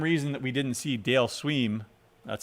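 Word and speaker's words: Dale Sveum: for the same reason that we didn't see dale sweem that's how you pronounce that anybody follow baseball no okay uh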